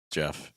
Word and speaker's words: Jeff: is me hello guys my name is Jeff it rhymes with breath and we're going to